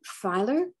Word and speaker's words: Feiler: today someone very special his name is andrew filer am i correcting correct in that pronunciation eiler yes tyler all right and andrew